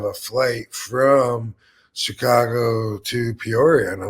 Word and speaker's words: Peoria: or what is it is it P Illinois am I right on that I think you you seem to take a syllable out of it when you say it yeah I think I do I got Mushmouth with it I think it's Peoria Peoria there we go Peoria I think